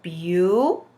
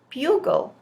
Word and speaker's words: bugle: Bugle. Bugle. Boys and girls, remember, when we see an E at the end of a word, it is silent. So that's why my word says bugle.